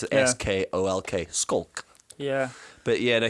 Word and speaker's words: Schalk: They pronounce it Yeah. SKOLK.